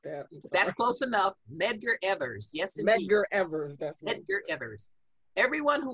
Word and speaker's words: Medgar Evers: megan edgar member yes yes i think i mispronounced that that's close enough medgar evers yes medgar evers everyone who was leading the